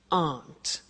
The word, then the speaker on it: aren't: they aren't cheap so the difficult here is the pronunciation of a not which is Aunt okay Aunt good so